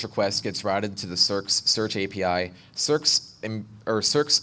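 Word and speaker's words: SearX: maintain so I stood up a copy of circs is by escomm ooh it's spelled SE ARX it's an open source front-end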